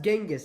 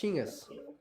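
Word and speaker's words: Chinggis: Direct lineage to Chingis Khan. Yeah. It's not pronounced Genis. It's pronounced Chingis, is it?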